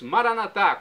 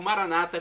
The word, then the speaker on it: Maranata: aramaico dialeto de Jesus maranat como dizemos noss católicos ou Maranata como dizem nossos irmãos separados os evangélicos ou protestantes não importa pronúncia o significado é o mesmo vinde Senhor Jesus um